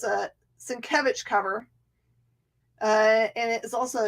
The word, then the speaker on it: Sienkiewicz: This crazy name that's right there, which looks like Sienkiewicz, is Sienkiewicz. Sienkiewicz.